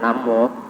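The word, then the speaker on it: 南無: he went to china we have the word naan wu which is pronounced at nam war it exists there's no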